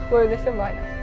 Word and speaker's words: Fröhliche Weihnachten: Fröhliche Weihnachten.